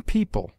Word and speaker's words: people: EO is found in yeoman, where it is sounded as o short, and in people, where it is pronounced like ee.